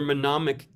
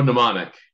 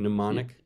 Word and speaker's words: mnemonic: help you remember oh mnemonic no did I pronounce it wrong mnemonic yeah yeah isn't it spelled MN yeah but the m is silent uh tricks right like